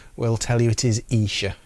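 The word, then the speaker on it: Esher: But then there's the Isha demos, and it is Isha, not Esha. If anybody's wondering, the good people from that town will tell you it is Isha, it's pronounced.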